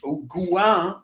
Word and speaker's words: Gouin: Or Gouin, actually, is how that'd be pronounced in French.